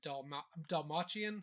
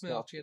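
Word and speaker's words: Dastmalchian: I said it's sad that Lance Reddick and David Dalmachian, is that how you pronounce it? That's Melchian. That's Dalsmelchian.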